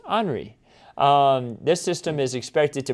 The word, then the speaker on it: Henri: I know it looks like Henry, but it's actually pronounced Henri.